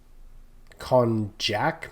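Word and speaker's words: konjac: this is cognac jelly not cognac as in Hennessy but kjac maybe I think is the a closer pronunciation it it's a kind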